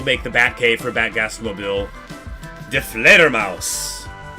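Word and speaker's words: Die Fledermaus: De Fledermaus. De Fledermaus is how you say the bat in German.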